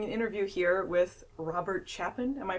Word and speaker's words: Chapin: uh I doing an interview here with Robert chapen am I pronouncing it correctly it's chapen but yeah let close it out okay do